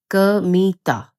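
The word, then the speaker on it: 神田: लेकिन यह कांडा के रूप में नहीं उच्चारित होता। जैसी कि तुम्हारी अपेक्षा हो सकती है। इसका उच्चारण है कमिता।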